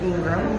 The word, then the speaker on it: Ingraham: website is hyphen ingram and you spell that i-n-g-r-a-h-a-m it looks like ingraham but it's like the graham cracker people don't remember the